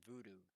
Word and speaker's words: Vuhdo: then you're going to type in voodoo it's spelled v-u-h-d-o now there is other